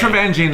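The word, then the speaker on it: Taravangian: Trevengian? Teravangian. No, It's Trevangian, everyone.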